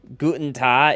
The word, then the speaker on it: Guten Tag: Isn't it Guten Tag, it's tag if you speak a dialect.